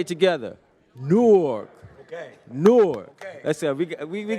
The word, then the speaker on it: Newark: could you say it Newark one more time Newark can everybody say it together nework okay newk let's go we we we getting there all